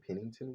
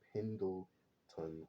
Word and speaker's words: Pendleton: from uh Pendleton Ward I was calling him Pennington Ward that's not even his name I think it's Pendle